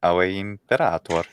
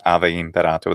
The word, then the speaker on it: Ave Imperator: That's how you say it. Ave Imperator. And of course, ecclesiastical, just Ave Imperator, the V.